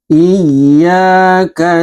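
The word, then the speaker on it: إِيَّاكَ: Iyyaka na'budu wa iyyaka nasta'in. Iyyaka na'budu wa iyyaka nasta'. Nah, pada ayat 5 ini yang sering kurang maksimal adalah ee nabr atau hentakan tasydid pada huruf ya.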